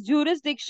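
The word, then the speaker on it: jurisdiction: okay now जूरिस जिक्स this word is टू be pronounce as जूरिस जिक्स जूरिस का मतलब होता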